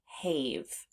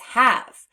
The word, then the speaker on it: have: a long a so we would actually expect this word to sound hav hav but it doesn't it's have which means the silent E is the unexpected part of this word because this word does not represent that long a sound that we would expect so we need to